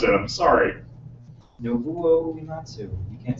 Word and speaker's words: Nobuo Uematsu: Nobuo Uematsu. You can't say that? Nobu or Nobu? Nobuo. It is Nobu. Nobuo Uematsu.